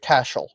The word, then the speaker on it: Cashel: So this is one of my favorites to talk about because it's pronounced Cashel.